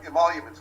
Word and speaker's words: Emoluments: Foreign Emoluments Clause.